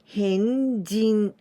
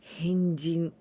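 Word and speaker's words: 変人: Adding this kanji, this is person, hito. But here we pronounce with jin. Henjin. Henjin.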